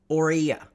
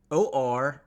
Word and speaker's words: Orania: Well, this flag is from a town, a very new town in South Africa called Orania. It is spelled O-R-A-N-I-A, Orania.